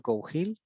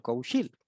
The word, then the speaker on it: Cougil: Y es curioso porque además en Galicia hay muchas veces que la G se pronuncia X. Entonces mi apellido se acaba nombrando como Cougil con una X.